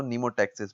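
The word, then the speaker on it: pneumotaxis: So that type of behaviour is known as नीमोटैक्सिस। ये एम इसमें silent है, हम इसको नीमोटैक्सिस पढ़ते हैं।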